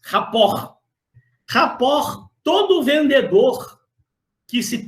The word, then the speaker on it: rapport: Rapport, Janine, é um conceito que, como o próprio nome, a pronúncia você já imagina, vem do francês. Vem do francês, rapport.